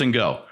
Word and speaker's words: Ngo: Yeah, I think it's pronounced Ngo.